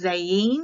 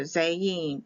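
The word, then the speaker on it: זַיִן: sword and it's pronounced zein because the i is pronounced like an e it can be spelled with a y also zayin both are correct this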